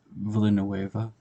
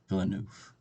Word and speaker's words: Villeneuve: I first saw his name or I've been pronouncing his name as Denise Villanueva which sounds kind of cool but it's actually the knee villeneuf it's hard to remember that um and uh